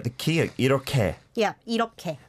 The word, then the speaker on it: 이렇게: Yeah, 이렇게. Not 이렇게. No. Don't say it how it's spelled. Like you said, the here is affecting it there.